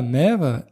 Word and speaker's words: mère: la ville d'ailleurs faites attention à ne pas confondre mire M a i r e pour parler de ce politicien et la mère M e accent grave R eu d'un enfant c'est la même prononciation deux orthographes différentes et ça ne veut